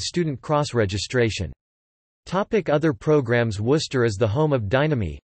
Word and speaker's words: Worcester: As with the city in England, the first syllable of Chester Castra is left entirely unvoiced. Combined with a traditionally non-rhotic Eastern New England English accent, the name can be transcribed as Wuz-T-U-H or Wuz-T-U-H, the first syllable possibly having a near-close central unrounded vowel.